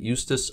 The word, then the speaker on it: Eustace: Eustace, that's how you pronounce it, right? Eustace yes.